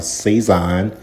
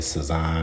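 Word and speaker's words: Sazón: add another pack of cison um that's how I pronounce it a lot of people say it saan or whatever the case is I do add sugar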